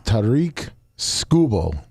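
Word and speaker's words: Tarik Skubal: It's Tariq Scubble.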